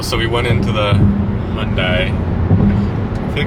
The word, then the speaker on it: Hyundai: How is it pronounced? Hyundai.